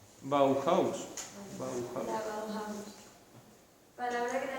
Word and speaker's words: Bauhaus: Normalmente la H suena, pero supongo que porque en alemán se dirá así. Bauhaus.